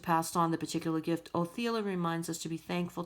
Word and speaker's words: Othila: Othila, pronounced Othila, is the rune of ancestors and family.